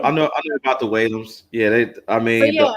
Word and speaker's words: Whalum: So I know you know about the Williams or the Will. Did I pronounce it right?